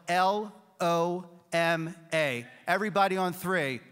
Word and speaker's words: LOMA: It's the Lower Market Design District, and it's spelled L-O-M-A.